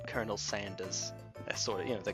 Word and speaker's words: Sanders: expect this accent but he pronounces his own name as Bernie sandas even though it's s a n d e r s he pronounces it as if it were s a n d a HS that's a that's an